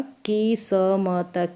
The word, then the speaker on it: किस्मत: स और म साथ में बोलेंगे, आधा जो स है वो म के साथ बोला जाएगा, ऐसे नहीं पूरा स नहीं बोला जाएगा, स म नहीं, स्म, की स्म त, किस्मत। इसका उच्चारण ऐसे नहीं होगा, की स म त, किस्मत नहीं, किस्मत। अगला शब्द है कृषि, क